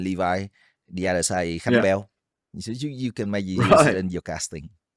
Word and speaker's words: Khánh Béo: I think during the regular season, there is a bit of hung bao. Is that how I pronounce it? Khánh béo.